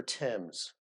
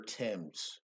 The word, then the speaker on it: Thames: You don't pronounce nothing like it's written in England. No. That is the River Thames. I've been reminded that a million times that is the river. Listen, that is the River Thames.